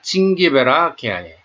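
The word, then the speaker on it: Zingiberaceae: G-I-N 징기베라 칭기베라 처음에 이렇게 머릿속에 두는 게 좋겠습니다. 좀 더 세게 발음하는 게 좋을 것 같아요.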